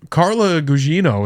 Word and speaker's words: Carla Gugino: I think Carla Gugino, is that how you say her name?